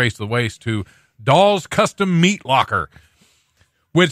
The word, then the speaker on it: Dahl: I heard he wants to buy Doll's Custom Meat Locker. He probably does. Probably does. Yeah. Why wouldn't you? It's actually DAHL, which it just sounds better than it looks when it's spelled.